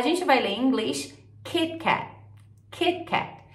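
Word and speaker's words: KitKat: vai ler em inglês keepcake então repara na pronúncia desse T como ela é muito mais Sutil do que no português a gente fala Kit Kat como se ele tivesse um i no final né Isso é interferência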